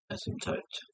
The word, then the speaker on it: asymptote: They're just asym. P is silent. Asymptote.